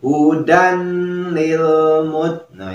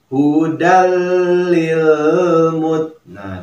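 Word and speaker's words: هُدًى لِلْمُتَّقِينَ: ya ya hai Hai jangan dibacanya malah hoedam ya tetapi apalagi Hudan lilmuttaqiina itu salah ya keliru yang tepat bacaannya ialah hudallilmuttaqin disini memang dibantu dengan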